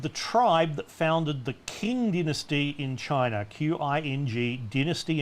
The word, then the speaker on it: Qing: The Qing, it's not Qing, it's Qing dynasty, but it sounds different.